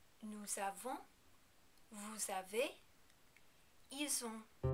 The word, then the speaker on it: nous: little tricky too because you have to remember to pronounce the S on the end of nous. We pronounce the S here even though we usually don't because it is followed directly by the vowel sound that begins the word avant.